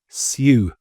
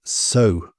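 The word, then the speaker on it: sew: It's not pronounced sue.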